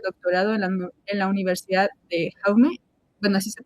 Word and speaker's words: Jaume: Actualmente cursa el doctorado en la Universidad de Jaume, bueno, así se pronuncia, en Castellón, profundizando en las preguntas que lo acompañan, cómo dialogamos, cómo nos organizamos y cómo tejemos sociedades más justas.